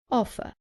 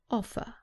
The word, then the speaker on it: offer: examples of vowel sounds offer remember that in british english the r at the end is not pronounced so the last sound is an er offer offered another example with